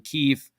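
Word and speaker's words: Kyiv: capital of Ukraine in Kiev or Kiev, that's how you say it properly in Ukrainian, Kiev.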